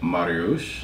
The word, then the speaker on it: Mariusz: So we are here with the lovely Emma and Mariusz.